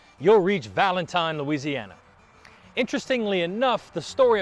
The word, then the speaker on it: Valentine: would name it the Valentine Plantation after his wife so this means that the town establishes not pronounced Valentine but actually Valentin the real Valentine would